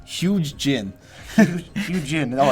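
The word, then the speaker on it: Zhuge Jin: Number 757, Zuj Jin. I did not pronounce that correctly. Wu strategist. I believe his name is the Z is silent. It's Huge Jin.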